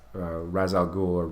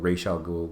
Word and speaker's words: Ra's al Ghul: the batman comics where Ra's al Ghul rachel gould whichever way you want to pronounce it dorks he would one